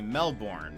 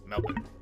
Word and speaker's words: Melbourne: Like, it's really hard for me, because, again, it's very common for Americans to say Melbourne, for example, and that's not right.